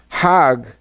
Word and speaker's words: Hajj: Now, Hajj is a pilgrim to Mecca. Hag is the Egyptian pronunciation.